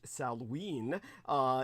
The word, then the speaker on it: Samhain: Do remember, whenever you see that, it is pronounced Salween.